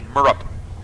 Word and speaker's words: Murrup: So here's Alexis Thompson and Tyler Murrup, which is like the first time that I've had to say Murrup. I mean, for years. He just let us go along our merry way pronouncing his name wrong, so we appreciate the clarification.